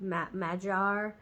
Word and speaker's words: Magyar: you want to say it's actually Mayar I get madjar m-a-g-y-a-r is how they say it um in their own language um anyways highly recommend